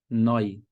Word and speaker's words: neu: Próximo padrão, a letra E mais a letra U. Isso soa como oi. Oi. Um exemplo de uma palavra simples. Neu.